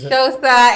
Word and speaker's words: Xhosa: Oh, you're saying Xhosa. Xhosa, it's Xhosa.